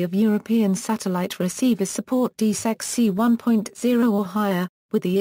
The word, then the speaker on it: DiSEqC: DiSEqC, pronounced DiSEq, is a special communication